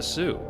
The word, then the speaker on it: Sault: better I'm heading into the Border Town of Sue St Marie also known as the Sue yes that's how it's pronounced the word Sue is derived from old